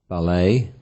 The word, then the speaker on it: ballet: Foreign nouns ending with a silent ET. For example, ballet, bouquet, buffet, chalet, filet, gourmet, valet, crochet.